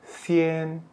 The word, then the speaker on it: 先: Ini bacanya xian.